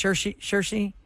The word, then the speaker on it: Saoirse: It looks like it's spelled Soiris, but it's Saoirse.